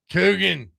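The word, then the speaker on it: Coogan: Kugan. Kugan rhymes with Dugan.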